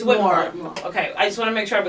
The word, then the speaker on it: Whitmore: I don't know how to pronounce it. Whitmore. It's Whitmore.